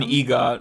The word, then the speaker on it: EGOT: An EGOT.